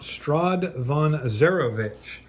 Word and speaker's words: Strahd von Zarovich: I think this is actually, yep, Count Strahd von Zarovich.